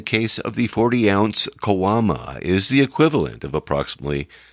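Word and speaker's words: caguama: is is a kawama it's spelled c-a-g-u-a-m-aims pronounced kawama and in reality a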